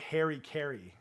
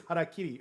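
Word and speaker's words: hara-kiri: Just horrible mispronunciations. Yeah. Well, that's what that is. Harakiri.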